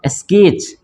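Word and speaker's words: sketch: है ना उसी तरह इसको पढ़ेंगे हम लोग स्केच 30 साइलेंट हो जाता है इसको पढ़ते हैं हम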